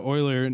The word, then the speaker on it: Euler: Yeah, so Euler was...